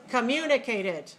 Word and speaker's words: communicated: how about this word communicated how many syllables communicated five where's the stress two okay so first syllable very weak second syllable strong clear long high new mu mu mu